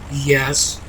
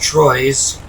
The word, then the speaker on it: Troyes: That's Troyes, pronounced Troyes to us Anglos who don't know any better. But I looked it up, and the correct pronunciation is Troyes.